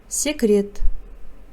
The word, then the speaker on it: секіреді: Секіреді, прыгает, еркелейді, ласкается. Раздел «Дұрыс айт». Произноси правильно. Пишется секіреді, читается секрет.